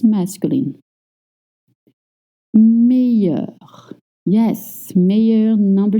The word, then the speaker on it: meilleur: The sound you, like you or yes, because in French, most nouns spelled with ILL makes the sound ye. Meilleur, meilleur.